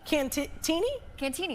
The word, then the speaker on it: Cantigny: I thought it was Kantney. Um, that's what I canini. Cantini. Oh, so the G is silent, I guess.